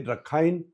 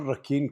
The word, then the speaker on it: Rakhine: Now, this is with reference to a particular project, a particular decision, and that is the Rakhine corridor or Rakhine corridor. You can choose your pronunciation.